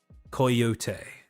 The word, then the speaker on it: Coyote: roster as well, Chizu Coyote. Now, I understand that that's not how you say coyote, but that is how Chizu pronounces her name.